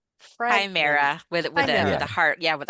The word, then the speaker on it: Chimera: Chimera with a with a with a hard Yeah, with a hard K.